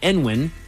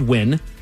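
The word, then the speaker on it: Nguyen: Some Vietnamese people swear it's pronounced uh, nwin. En with the first N spoken out loud. Uh, some say that you drop the first letter and simply pronounce it as win.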